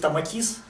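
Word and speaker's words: Tomatis: это работает это метод томатис терапии правильно говорить томатис в оригинальной транскрипции это метод аудио тренировки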